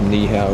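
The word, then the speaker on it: 你好: Not to be mistaken with knee-how, which is how you say it in Chinese.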